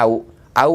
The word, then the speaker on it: Ahu: Suku Maya, dia mengatakan teologi dia menyebutkan tulisannya Ahu, bacanya Au Afiki.